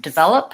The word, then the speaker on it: develop: divide upper and developing again stresses on the middle syllable vowel that has the clear vowel that and watching out